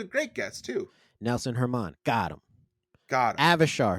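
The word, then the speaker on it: German: I believe Nelson's last name is pronounced Herman.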